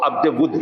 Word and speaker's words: عبد ود: ہو جاتا ہے، لیکن اس کی جو صحیح پروننسیشن ہے، تلفظ ہے، وہ عبد ود ہے۔ وہ کہا جاتا ہے